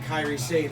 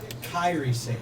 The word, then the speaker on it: Kairi Sane: But Kairi Sane, I said it right this time, right? Kairi Sane. Kyrie. Closer.